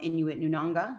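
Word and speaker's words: Inuit Nunangat: sure we had all of the representation from Inuit Nunanga.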